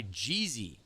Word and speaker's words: Gezy: tournament earlier who is spelled the same way. Gez Y and he goes by Jeezy. And this is G EZ Y, but he goes by Gezy. So, you gotta be intentional about how you pronounce it, man.